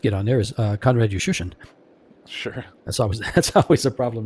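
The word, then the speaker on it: Juszczyszyn: The first time I asked him about that, he says, and actually I spelled it phonetically, and I just put a U and shun. And since then, that's how I pronounce it.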